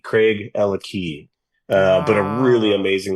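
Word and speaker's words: Craigellachie: A lot of people pronounce it Craaki. Yeah. But it's Craig and Ella have the key. Craig Ella Key.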